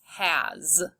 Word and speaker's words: has: Has. You'll see this in other words like his and is. The Z sound is what the S makes sometimes at the end of a word.